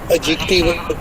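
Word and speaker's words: adjective: और इसको इंग्लिश में एडजेक्टिव, जिसका सही प्रोनाउंसिएशन है एडजेक्टिव, इसमें सिफ्त एंशियस मतलब नाउन है, एंजाइटी नाउन से मतलब इसम है, ये बेचैनी, तशवीश।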